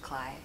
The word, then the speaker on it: Kley: Is it actually pronounced Kley? Yeah.